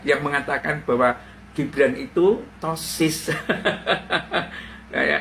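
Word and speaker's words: ptosis: Gimana coba kalau seperti ini kan si topi yang buka-buka yang mengatakan bahwa Gibran itu tosis ya. Ejaannya sih petosis ya. turisannya petosis tapi ejaannya tosis ya.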